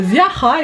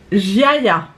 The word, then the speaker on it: Ziaja: La marque se prononce, parce que j'ai regardé après des revues, je me suis bien renseignée sur la marque, donc c'est bien une marque polonaise, petit prix, qui se dit Ziaja.